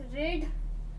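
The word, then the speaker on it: read: तो वह, the girl said that she रीड, हमें यहाँ क्या लगाना, वर्ब 3 फॉर्म पर। रीड का वर्ब 3 क्या होता है, रीड ही होता है, लेकिन हम लोग प्रोनाउंस क्या करते हैं, रेड।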